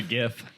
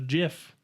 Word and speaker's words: GIF: said it's pronounced jawed i call it a gif i say it too but the guy who created it calls it a jiff and he's an idiot